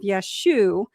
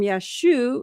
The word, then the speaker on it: Yeshua: we now understand that the form Yeshua likely reflect reflects Galilean dialectical pronunciation from the 1st century CE. In certain northern Aramaic-speaking regions, especially in Galilee, where many of Yeshua's early disciples lived, the final letter ayin was often dropped in common speech.